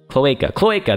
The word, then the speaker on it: cloaca: Cloaca. There we go. Cloaca is the singular. Cloaca.